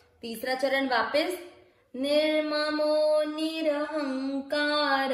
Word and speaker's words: निर्ममो: नी के साथ पढ़े, निर ममो निर ममो नीर। ध्यान दीजिएगा पूरा अक्षर है उसमें अपने को अ का उच्चारण मिक्स करना है, निर्ममो नीर, र पूरा है ना इसलिए नीर।